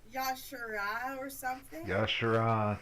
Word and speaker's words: Yogg-Saron: I am probably going to screw up how to say this name, but it's Yashara or something. Yashara. Yogg-Saron.